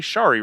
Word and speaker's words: Shari: sherry rhymes with starry shari rhymes with starry eric miller scott and